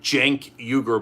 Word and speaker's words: Cenk Uygur: kami gutierrez just joined my name is jank euger but it's spelled with a c nobody can pronounce it